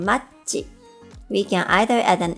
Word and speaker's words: マッチ: For ch sound in machi, we can either add an extra c or add a t, just like the English spelling.